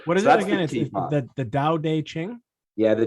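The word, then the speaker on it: Tao Te Ching: the life so what is that again the dao day qing yeah the doubt aging it's spelt t-a-o t-e and then c-h-i-n-g and it's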